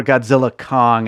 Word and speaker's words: Godzilla x Kong: my number one is Godzilla X Kong or Godzilla Kong as it's supposed to be pronounced the new Empire directed